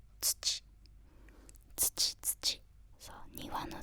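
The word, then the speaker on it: つち: Now if it means as like soil, you pronounce it as tsuchi.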